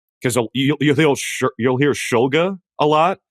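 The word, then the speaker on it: Shulga: Cuz you you'll you'll hear Schulga a lot. Like especially in his college career, you you heard Schulga. He was like, "It's Schulga."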